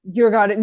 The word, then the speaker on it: Djurgården: I'm not going to try and pronounce it. Djurgården? Djurgården, there we go.